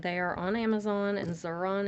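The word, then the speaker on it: Xuron: are on amazon and zaron is spelled x u r o n not z okay so if you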